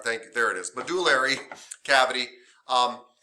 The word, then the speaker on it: medullary: Medullary, I always say it wrong, medullary, sorry, thank you, there it is, medullary cavity.